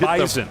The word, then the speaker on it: Bison: Is that the same Bison that hit Bison.